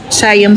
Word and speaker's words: Siam: Siam pala ang pronunciation.